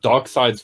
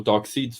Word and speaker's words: Darkseid: had a decent villain i love darkseid's voice or dark seed's voice whichever you whichever pronunciation you prefer um really actually all right you're a strange boy they definitively call him darkseid in the film yeah but this isn't